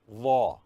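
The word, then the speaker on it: ظ: Dha should be pronounced as the tip of the tongue should come out, come out of the mouth between the teeth. Dha.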